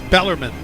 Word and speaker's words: Bellarmine: make it bellarmine is that the way it's pronounced yeah we got an expert who uh it's bellarmine bellarmine bellarmine yep that they played a couple